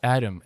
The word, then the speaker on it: Adem: Thanks, Adam. It's Adam, isn't it? It is Adam.